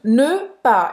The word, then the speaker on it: pas: E aí o S do pa não vai se pronunciar, não, né? Não se pronuncia. Ne pas.